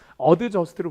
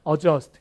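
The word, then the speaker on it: adjust: 그래서 발음이 어드저스트가 아니라 어저스트 이렇게 외우셔야 되고 스케줄 같은 것도 뭐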